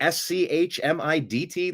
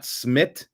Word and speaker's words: Schmidt: S C H M I DT. Like that's how we're going to pronounce it. Not Smid. Smid. It's Schmidt.